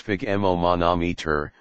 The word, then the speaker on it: sphygmomanometer: The word spigmon monometer pronounced spigoman monometer was put together from